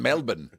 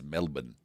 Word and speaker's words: Melbourne: Oh, they're playing in Melbourne. James Pledger just texted. It's not Sydney or Perth. It's the other one. It's Melbourne. Melbourne.